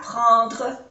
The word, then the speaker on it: prendre: Prendre, igualmente aquí tenemos una vocal nasal y N que se pronuncia en.